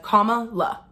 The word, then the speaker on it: Kamala: I made a video months ago where I said Kamala's name wrong, and I got corrected in the comments. People just said Kamala, like the word comma as in the punctuation, la as in LA.